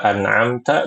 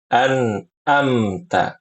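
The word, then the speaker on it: أنعمت: Tuhan ya begitu ibu-ibu Jadi kesalahannya pada kata an'amta Jangan dibaca anamta atau anamtu ini fatal sekali dan juga jangan dibaca anamta anamta ainnya diubah jadi Hamzah yang benar anamta seperti itu ya ibu-ibu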